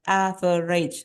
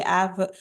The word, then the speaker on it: average: Like this one, average. So, I mean, with normal rate of speaking, yeah, we don't really enunciate. Is like trying to read all syllable one by one, like average. No, we don't say average. There will be 3 syllables, but actually this is only normally spoken with 2 syllables in normal daily speaking.